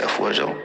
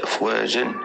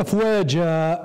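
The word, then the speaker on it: أفواجا: اذا في كلمه افواجا تنطق بالف ممدوده وليست افواجا كما القهوه، وغادي نسميه مصدر عوض والف ماديه لانها في حاله وقف.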